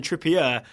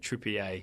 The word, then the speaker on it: Trippier: wanted to tell us that it's actually Kieran trippier not Kieran Trier yes yes which is interesting I guess that's my fault I think I started that we assume he was French or French pronunciation I think yeah I think we just we getting too fancy on TSS yeah it makes sense right his English it would be trippier yeah and then it's